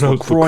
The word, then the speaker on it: LaCroix: It's pronounced LaCroix, you dumb shit.